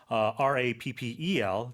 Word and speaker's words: rappel: That's R-A-P-P-E-L, but the pronunciation is the same.